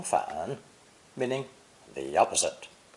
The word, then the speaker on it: 反: It's pronounced third tone, 反, 反.